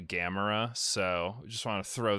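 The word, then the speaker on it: Gamera: future uh Lizzie heard me say Gamora like 15 times in this recording and then afterwards let me know that I was saying it wrong and it's actually gamra so just want to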